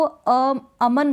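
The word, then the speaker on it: Aman: और क्यों नहीं करेंगे, क्योंकि इसका प्रोनाउंसिएशन ही ऐसा है। आप इसको अमन बोल रहे हैं, क्या बोल रहे हैं, इस नाम को अमन। अब न को आप ऐसे नहीं बोल रहे हैं अमन, न को खींच के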